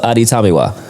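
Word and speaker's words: Adetomiwa: I'm going to work on that because I have it phonetically spelled correctly here with the A's and the days and the Tamiwa. So Adi Tamiwa.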